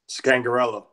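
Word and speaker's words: Scangarello: no Lea scag sec yeah skate no Lea scangarelo gang gorilla that's it but anyway blocking him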